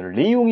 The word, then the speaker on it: 이용: 그런 경우 에는 발음 하기 가 부담 스럽습니다 . " 리용 " 이라 고 발음 하기 가 조금 어려워서 " 이용 " 이라 고 부릅니다 .